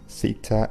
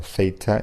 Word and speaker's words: theta: And as announced, we will be discussing argument structure and theta or theta, you can pronounce it either way, theta role assignment.